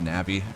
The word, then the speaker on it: Navi: I always knew it was Navi. It's like Navigator.